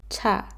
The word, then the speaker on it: 차: And the last one is 차.